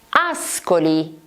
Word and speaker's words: Ascoli: Ascoli, Ascoli, città marchigiana delle Marche. Ascoli abbiamo SCO, SCO.